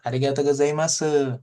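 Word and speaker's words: ありがとうございます: Jadi yang su-nya di belakang tetap harus dibaca, ditekankan seperti itu. Arigato gozaimasu gitu ya, seperti itu.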